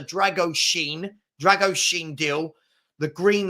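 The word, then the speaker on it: Drăgușin: D after the and I'm told it's pronounced like this after the Drago Sheen Drago Sheen deal the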